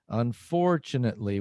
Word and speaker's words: unfortunately: And the stressed syllable is for, unfortunately, which is desafortunadamente, literally.